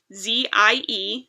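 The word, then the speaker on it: zie: In 2011, and that's when I started going by I full time and using my pronouns, which are Z-I-E, pronounced Z, and here, which is spelled H-I-R, but pronounced like here.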